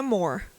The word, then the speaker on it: Moore: É More ou é Moore? Pronuncia Moore. É com 2 Os. Com 2 Os, mas eu não pronuncio com um som fechado U.